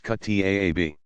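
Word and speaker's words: kuttab: Younger children attended a Quran school called a kutab, pronounced kutaab.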